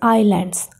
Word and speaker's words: islands: The first word is islands. I and lands, two syllables. Here, S is silent. I is I. S is not pronounced.